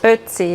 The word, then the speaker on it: Ötzi: Every once in a while there'd be a new article about Ötzi. Is that the way you pronounce it? Ötzi, yes. Ötzi.